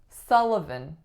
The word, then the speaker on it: Sullivan: next one we have Sullivan Sullivan three syllables our trick in this one is that the first syllable looks like the letter U but it makes the sound ah as in up afterwards we have to